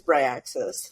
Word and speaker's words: Bryaxis: I know there's sometimes my Colorado accent comes through and I'm Bryaxis, but it is Bryaxis, like Bry.